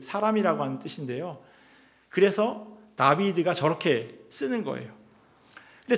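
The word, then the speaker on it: דוד: 드드 이렇게 되는 거죠 그리고 가운데 있는 글씨는 예 이렇게 어 W 에 발음을 하게 되는데요 영어권에 있는 사람들은 리면 예 뭐 위 이렇게 동그라미로 흔히 이야기하잖아요 하지만 동그라미가 아니라 비읍으로 발음해요 왜냐면 W 위가 두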